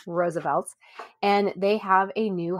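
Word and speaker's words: RSVLTS: And so Roosevelt's, which we've talked about before on the show, but if you're unfamiliar, Roosevelt's is spelled capital R-S-V-L-T-S, pronounced once again, Roosevelt's.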